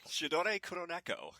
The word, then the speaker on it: Sidore Kuroneko: Sidore, pronounce it for me, Dave. Sidore Kuroneko.